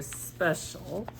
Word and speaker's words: special: it here for you special so special is only two syllables there's one letter wait oh so special this I and the C kind of go together to make that sh sound special so I always